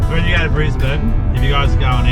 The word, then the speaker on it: Brisbane: And we off to Brisbane.